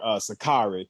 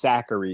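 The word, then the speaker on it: Sakkari: Now, see, I'm still used to calling her Sakari, but apparently her name is pronounced Zachary now.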